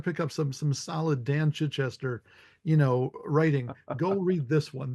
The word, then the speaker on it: Chichester: And it's Chichester. It's I know it's Chichester. Chichester Okay, and thank you. in the Brits, pronounce it correctly, and I screwed it up.